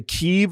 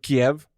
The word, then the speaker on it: Kyiv: It's like now we know how to say Kyiv instead of Kiev.